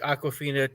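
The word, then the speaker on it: Awkwafina: one um you know i know i'm gonna mispronounce her name but um uh uh or um aquafina oh yeah aquafina oh it is aquafin okay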